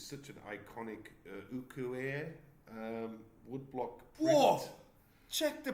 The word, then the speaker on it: ukiyo-e: So the reason why I like Sharaku's work is because it's such an iconic ukiyo-e woodblock print. Whoa! Check the pronunciation.